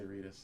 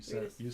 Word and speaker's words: Redis: Wait, how do I pronounce it? Yeah, you should say Redis. You Redis.